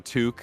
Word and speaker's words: toque: quack says beanies I think you mean to tokes is that how you say it TS yeah in Canada the toque right exactly I got called out as a